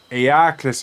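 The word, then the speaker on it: Eacles: pronounce the genus of this moth as like eagle like equals the name is pronounced uh I don't know why I'm not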